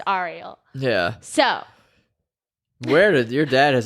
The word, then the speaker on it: Ariel: dad's name is Ariel, but it's spelled Ariel, like the mermaid, but pronounced Ariel.